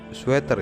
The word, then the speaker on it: sweater: tambah s sweiters atau ini tuh sweater ya pronounciationnya Sweater sweater seperti itu there is yang pertama